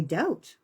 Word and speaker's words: doubt: And we doubt. We have doubt. Doubt in and of itself causes doubt. There's a freaking B in there and you don't even pronounce it.